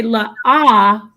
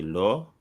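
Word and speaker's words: לא: So if I'm it depends on if I'm reading the text from the Masoretic text, it's lo, right? It's pronounced no in the Masoretic text, and that's where you get the lo from a lot of Tanakh Old Testament, subscribers. But those using the Lashwa Kadash, they say la'ah.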